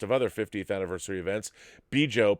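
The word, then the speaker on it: Bjo: Special guests at Star Trek Las Vegas and a host of other 50th anniversary events, Bijo, pronounced Bijo, and her husband John are Star Trek's fans, the determined couple who saved the franchise.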